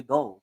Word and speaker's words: Doe: Doe. How do you pronounce it? Doe or Do, Doe? do with it. Doe.